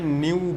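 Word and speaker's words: nu: ফ্রিকোয়েন্সিটাকে নিউ চিহ্ন দিয়ে denote করা হয়, এটার উচ্চারণ হচ্ছে নিউ, NEU।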